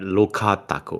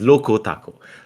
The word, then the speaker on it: Loco Taco: I was about to pronounce that Loca Taco. Okay, but this is Loco Taco.